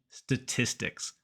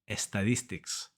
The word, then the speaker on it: statistics: Spanish it's estatistica and most Spanish native speakers even very Advanced ones say EST statistics there are two mistakes here one it starts with just s we don't put e